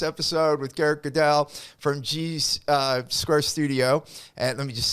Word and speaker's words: G Squared Studio: part of this episode with Garrett Gundal from G's Square Studio and let me just say it right, G's Square Studio.